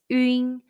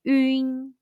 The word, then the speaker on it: ün: When you see the English letter UN in Pinyin, the pronunciation is 晕. It's a combination of the Mandarin Chinese yu and n sounds. Say 晕.